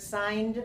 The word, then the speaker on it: signed: it here signed and this word as you know has a silent G yeah so we don't pronounce it g sound in this word yeah so we only say the word signed without G we have